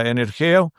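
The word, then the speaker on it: ἐνεργέω: La palabra en griego obra significa o o se pronuncia energeo, pero significa que obra, realiza, lleva a cabo, produce y es un participio, participio presente y sugiere actividad continua.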